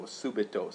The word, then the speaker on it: subito: but here we see an adverb that ends in o a long o subito suddenly in this chapter